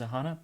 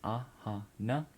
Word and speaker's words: Aahana: So name is Aahana, pronunciation is Aahana, Aahana.